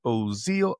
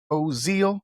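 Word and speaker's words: Ozeal: Make sure you subscribe on the YouTube channel by following Ozal. O Z E A L rhymes with zeal, rhymes with the real deal. Ozal, you can't be like, Evander Holyfield.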